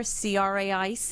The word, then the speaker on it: craic: people last week remember CRA IC is the Irish word for fun pronounced craic not to be confused with the illegal substance so I'm sure there's